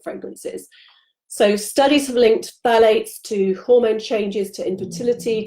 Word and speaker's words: phthalates: The third group is a group called phthalates. It's spelled Phthalates, so it's hard to say, hard